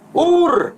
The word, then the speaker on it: Ur: Tapi di sini kan tidak tertulis air kasdim, tapi tertulis Ur Kasdim, pakai alef, bukan ain. Nah, ini kemungkinan besar saudara kita yang memahami dengan istilah kota Kasdim karena membacanya dengan air. Karena istilah air itu kota, sementara ini tertulis bukan air tapi Ur.